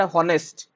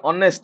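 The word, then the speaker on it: honest: एयर हला तो नेक्स्ट आसीबो तो the word हॉनेस्ट the word हॉनेस्ट the word हनेस्ट कुह मत कौन हम the word ऑनेस्ट ऑनेस्ट sorry हनेस्ट कहूँ द वर्ड ऑनेस्ट रे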